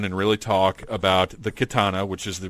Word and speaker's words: Khetanna: to sit down and really talk about the katana which is the pronunciation we're going to stick with because it